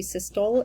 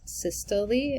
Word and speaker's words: systole: you can pronounce it it is sista systole and diastole systole diastole systole diastole i know in your heart of hearts you want it to be cystol and diastole it is not it is systole and